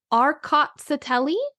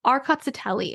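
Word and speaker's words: Rkatsiteli: a great variety called arot satelli I had to put a pronunciation of that in my notes because o that's a mouthful arot satelli it's RKA a t s t e l i it's a grape that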